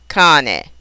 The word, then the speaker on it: cane: Therefore, a two-syllable word will be accented on the first syllable, cane.